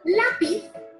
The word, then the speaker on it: lápiz: Por ejemplo, en la palabra lápiz, la sílaba tónica es la penúltima, que es la. Lápiz.